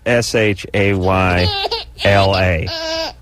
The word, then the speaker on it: Shayla: here our former employee how else would you pronounce sh a y la give me give me give me a possible way to pronounce that it isn't Shayla no there's no way